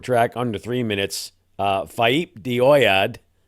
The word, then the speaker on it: Faaip de Oiad: under three minutes uh faip dead I've been told that's how it's supposed to be pronounced uh and that track